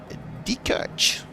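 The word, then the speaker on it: Diekirch: And then Dekirch. That's exactly how you say it in Luxembourgish.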